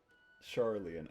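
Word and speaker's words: Sharlayan: Charlian, okay, that's how you actually pronounce it.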